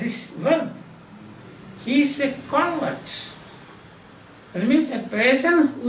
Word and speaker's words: convert: one he is a convert that means a person who is converted so announce if the stress is given to the first part usually in this case